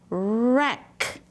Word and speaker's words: wreck: W R says, "ruh." Good job. And, E says, "eh." Remember C K says, "kk." It makes one sound. Ruh eh kk, wreck. Good job.